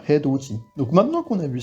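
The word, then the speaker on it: 해돋이: Bon, c'est pas un mot très commun, mais petite particularité de prononciation. Donc c'est bien Hedoji.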